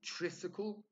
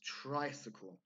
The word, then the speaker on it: tricycle: just a quick points it's not triskele it's tricycle both in British English and American English sometimes these prefixes do